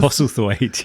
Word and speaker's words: Postlethwaite: And it stars James Purefoy, Max von Sydow, Rachel Hurdwood, Pete, I can't pronounce his name, Postlethwaite? Is that how you pronounce it? Postlethwaite, yeah.